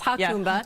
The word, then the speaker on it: Jacumba: Hakumba Hot Springs, and I had to call them to make sure I say it right because it's Jacumba, but it's Hakumba, and that is on the border of Mexico.